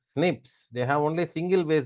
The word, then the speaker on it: SNP: a single base difference single nucleotide poly Mars we call them as are pronounced as Snips they have only single